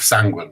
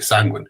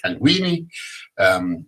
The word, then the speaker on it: Sanguine: And then there's words like sanguine, like Billy Ray Sanguine. Is it sanguine? Is it sanguine? Is it sanguini? Sanguine.